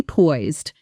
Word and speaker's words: poised: It rhymes with noised, but many learners want to add an extra syllable. It's one clean syllable.